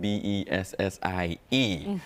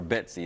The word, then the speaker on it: Bessie: Bessie, B-E-S-S-I-E. A lot of folks get her name wrong, call her Betsy. It's Bessie, y'all.